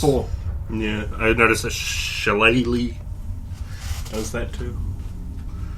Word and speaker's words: shillelagh: Yeah, I noticed a shillelagh does that too. I pronounce it shellyak, but 1d8 slash.